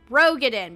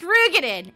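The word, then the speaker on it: Roegadyn: that race is said for 11 years we have all thought it was pronounced Rog get in because r o e get in it becomes now the issue that when they pronounced it it was pronounced rugan and it pisses me off Asher now also does not like that is apparently pronounced rugen and not rogin and is like no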